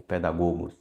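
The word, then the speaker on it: παιδαγωγός: Mas se pronuncia pedagogo ou pedagogos.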